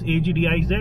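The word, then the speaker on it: Agdz: Agdiz this time. This city is called, this little town is called Agdiz. A-G-D-Z. I thought it's A-G-D-I-Z, but it's pronounced A-G-D-Z.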